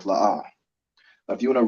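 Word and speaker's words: לא: So the 2 characters we have are La and Ah, and they're both pronounced separately. So you put the arch underneath each letter to make La'ah.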